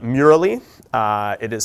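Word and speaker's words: Mural: it off because I think it's fantastic called Mur uh it is spelled mu R A L.L um we'll post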